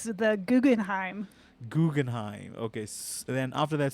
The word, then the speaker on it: Guggenheim: Guggenheim, right? Supernova. It's close. Close. I'm sorry. How do you pronounce that? What's the right way? It's the Guggenheim.